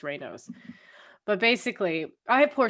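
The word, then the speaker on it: Raynaud's: uh rayno's disease um and i call it ray nods and then i i saw a way to pronunciate it apparently it's rainos but basically i have poor circulation in my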